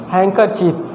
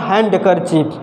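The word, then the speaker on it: handkerchief: इसमें D letter क्या है, साइलेंट है, काफ़ी इम्पॉर्टेंट है। हैंकरचीफ, इट्स नॉट हैंडकरचीफ, it's only हैंकरचीफ। डी को हम लोग ओमिट करेंगे।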